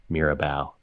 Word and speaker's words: Mirabal: way that's been phonetically way to say is Mira like saying the word mirror but with like a New York accent and then bow like the first part of ballet Mirabal it's a Puerto Rican